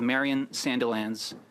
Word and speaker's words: Marion Sandilands: We have Sylvia Martin Laf who's the U director general and we have Marian Sandelands who's a lawyer. Am I pronouncing your name correctly?